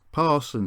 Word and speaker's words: Paston: of paston and napton or pronounced parson and napton as i've been told it served the two